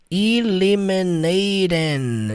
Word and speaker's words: eliminating: Não, gente, o e no alfabeto em inglês, como é que você pronuncia? E eliminaten.